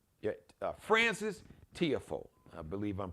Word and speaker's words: Tiafoe: area, from like Prince George's County, Maryland, Tiafoe. Yeah, Francis Tiafoe, I believe I'm pronouncing, because I've heard all these different pronunciations. Tiafoe, Tiafoe.